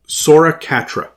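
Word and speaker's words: Sora Katra: The first one is Sora Catra. That's spelled with a K.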